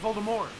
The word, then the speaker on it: Voldemort: It's like Voldemort. It's the he shall not be named. And we've been pronouncing that wrong for years. Mm-hmm. You're not supposed to pronounce the T. It's Voldemort.